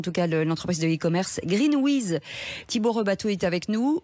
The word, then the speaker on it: Greenweez: Alors GreenWiz, ça s'écrit GRNW2Z pour les auditeurs qui chercheraient à le taper dans le navigateur.